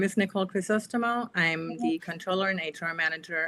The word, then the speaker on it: Crisostomo: It's hilarious because nobody can pronounce it. It's Chris Ostimo.